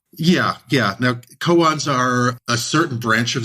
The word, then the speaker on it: koan: think of something called cones is that the right pronunciation of it yeah yeah now koans are a certain branch